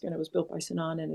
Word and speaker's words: Sinan: visiting Istanbul, I encountered all the architecture of Sinan. Is that how it's pronounced?